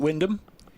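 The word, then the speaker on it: Wymondham: And I've also sorted the Norfolk pronunciation thanks to Nick. Is it Windham? It is.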